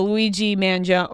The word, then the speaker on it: Luigi Mangione: Yeah, the Luigi Mangione, right? That's how you pronounce it.